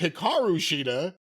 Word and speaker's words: Hikaru Shida: That's Hikaru Shida. Or as her name is pronounced, Hikaru Shida.